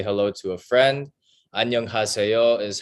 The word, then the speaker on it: 안녕하세요: 안녕하세요. Onion, 하세요. Very good. Wow. Your pronunciation's awesome.